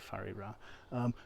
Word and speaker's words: Whare: the Maori language evidently if you write a wh that's pronounced as an F so take fariba toru also a merry